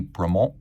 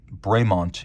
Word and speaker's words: Bremont: I guess if you want to be precise, it would be Bremont, but Bremont is the anglicized pronunciation, and I did ask them about that.